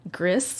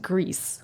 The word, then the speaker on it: Gris: I also beat Gris, or I think it's pronounced Grease, which is the background you guys are looking at.